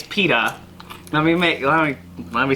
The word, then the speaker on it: Peeta: is know it if Peters if not Peter it's not Peter its Peeta no me no let